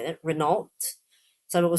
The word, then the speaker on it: Renault: So it's Renault. Some people say that Renault. Some people say Renault. Renault and Renault. Okay. UK typically says Renault. Emphasis on the first half of it.